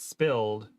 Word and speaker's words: SPLD: is still ignoring me spld stood for silent protest of lying down turkey pronounced it spilled as an oblivious classmate